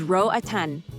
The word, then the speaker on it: Roatán: Roaton, the Spanish pronunciation is Roatan, is an island in the Caribbean about 40 mi off the northern coast of Honduras.